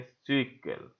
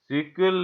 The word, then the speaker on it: SQL: लिखा है एसक्यूएल, लेकिन इसको प्रोनाउंस करेंगे सीक्वल। सीक्वल इसको प्रोनाउंस करेंगे।